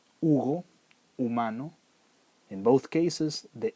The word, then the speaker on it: Hugo: Like in my name, the H doesn't make any sound. Hugo, humano.